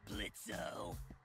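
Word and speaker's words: Blitzø: in it uhhuh sure blitzo the O is silent now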